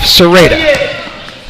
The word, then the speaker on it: Serrata: I think I said Serrata in the first half. Serrata is the pronunciation.